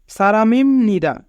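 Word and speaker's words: 사람입니다: সারামিম নিদা মানুষ।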